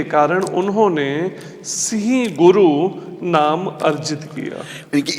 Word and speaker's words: सिंह: सिंह क्यों नहीं कहा? सिंहा नहीं है, वो शब्द है सिंह।